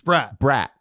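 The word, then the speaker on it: Bratt: I know Devils fans will correct me on on the pronunciation. So, it's not broad. Eh, it's Brat. Brat Brat.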